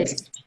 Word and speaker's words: Wesp: Claro que na pessoa tão especial do nosso deputado Matheus Wesp, acho que é assim que se pronuncia, Wesp? Exato, exato. Wesp.